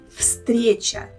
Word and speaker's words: встреча: I think it will be better for you to pronounce them if you know that the first letter V here should be pronounced as F. Встреча.